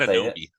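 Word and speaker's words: Anunoby: OG Nabi. I said it wrong. Close. Close. Say it. Ananobi.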